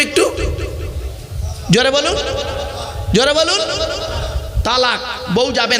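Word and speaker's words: طلاق: শব্দটা বলেন তালাক। খবরদার শব্দটা তালাক নয়, তালাক নয় শব্দটা, শুনে যান। শব্দটা হলো তলাক।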